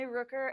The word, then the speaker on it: Rooker: I'm Rooker. It's like hooker, but with an R.